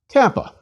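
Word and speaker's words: κάππα: Kappa. Kappa is equivalent to K and pronounced like the K in kill.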